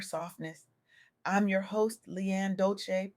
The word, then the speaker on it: Dolce: I'm your host Leanne Dolce, pronounced dolce like sweet softness whispered in French.